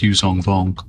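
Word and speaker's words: Yuuzhan Vong: So like that's already pronounced Yuzong Vong Yu Jang Vong what however you pronounce it like Mhm.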